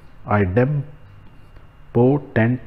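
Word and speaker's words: idempotent: हैं आईडम पोटेंट लॉ मैंने जानबूझ के ना डॉट लगाया so that we can pronounce it properly आईडम पोटेंट लॉ ठीक है बेसिकली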